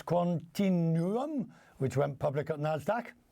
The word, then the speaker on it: Quantinuum: Quantinuum. And I'm happy to be here, and thanks for having me. Right, Quantinuum.